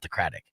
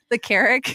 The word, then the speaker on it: Carrick: free hotel stays at the Craddock. There you go. Yeah. Am I saying it wrong? The Craddock. The Craddock. How do you say it? The Carrick. Oh, the Carrick. Yeah.